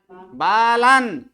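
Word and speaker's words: बालन्: बालन। हाँ, यहाँ बालन, क्योंकि नौ के नीचे क्या दिख रहा है? हलंत दिख रहा है, तो इसका उच्चारण बालन।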